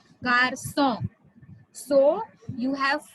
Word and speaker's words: garçon: And finally you have sedia, sedia, sedia, which gives you the pronunciation sir, which changes k to sir. Okay, the pronunciation, it changes the pronunciation of C from k to sir. Garçon, garçon means boy.